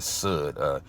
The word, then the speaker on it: Sud: surface meaning, and the Sud, spelled S-U-D and pronounced like wood, being the 4th level, and the mystery, or the hidden thing.